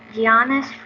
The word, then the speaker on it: Giannis: Yep, Giannis. That's how you say it. That's the proper way to saying it. Giannis. I was saying Giannis for the longest time, but then someone said no, it's Giannis.